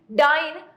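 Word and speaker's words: dyin: है एक दूसरे से इट इज for this reason that the poet has यूज डाइन so that when we pronounce it it rhymes with lion ठीक है इसलिए पोएट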